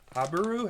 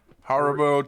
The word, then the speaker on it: Haribo: If you've never had Habaru? How do you say it? Haribo? Haribo twin snakes, Twin snakes.